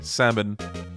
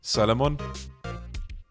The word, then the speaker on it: salmon: is salmon actually wait do you pronounce the Y in that word cuz I think I've seen people or heard people say salmon and I'm like wait salmon what the hell that is so Cur first I think people here pronounce it like Salamon silent L what that is so cursed you're